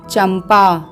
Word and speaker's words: चंपा: वर्ग का व्यंजन है और प वर्ग का पंचमाक्षर होगा हलंत म तो इसका उच्चारण होगा चंपा आइए प वर्ग के